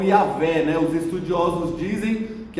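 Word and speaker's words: Yahweh: Então, a pronúncia, os estudiosos dizem, a maioria deles, o consenso é que a pronúncia é Yahvé.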